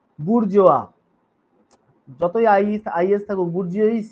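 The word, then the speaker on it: bourgeois: বুরজোয়া। যতই আইস আইএস থাকুক গুর্জিস এরকম কিছু উচ্চারণ কিন্তু নয়।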